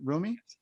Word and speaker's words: Rumi: yeah yeah yeah no brilliant mate and um roomie is it is that how you pronounce it rumi yeah um reminded me of beautiful boy you